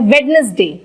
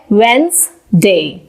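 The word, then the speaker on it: Wednesday: जो कि होता है वेडनेसडे। पर इसका करेक्ट प्रोनाउंसिएशन होता है वेंसडे, वेंसडे, वेंसडे, वेंसडे।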